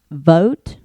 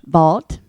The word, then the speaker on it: Vault: I always wonder how to pronounce that correctly and I've heard it so many times and I still look at it and and I want to say vote instead of vault and it's clearly VA.